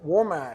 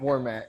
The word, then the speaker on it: Warmack: That's it. Warmack. Warmack. Warmack. I mispronounced it. Dadgummit. We just practiced it and I still messed it up.